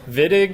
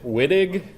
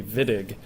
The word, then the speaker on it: Wittig: neat it's called the viig reaction if you hear somebody pronounce it Whig you should slap them and say no it's a v he's German it should be viig he won the uh